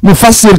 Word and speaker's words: mufassir: setelah ada tafsir itu namanya mufassir yang menafsiri sinnya dikasrah mufassir cara bacanya disesuaikan dengan mufassar sinnya di fathah mufassar berasal dari fassar yufasiru bareng-barengar yufir tafsaron tifsaron mufassaron fahua mufass mufassalun mufassalun begitu.